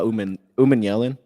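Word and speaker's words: Umanmielen: Do you know how to pronounce that last name by the way? Oh yeah. Uh Umeman Yellen.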